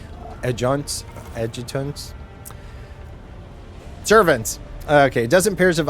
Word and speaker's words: adjutants: orders the it Ed edutants that I do not know that's new uh to the edutant at the far end of The Magnificent chamber or there's a silent letter in there adjuncts adjutants servants okay dozen pairs